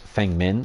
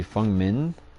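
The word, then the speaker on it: Feng Min: Min Fung so the the E is effectively a u sound so it's supposed to be Fung min or Min Fung if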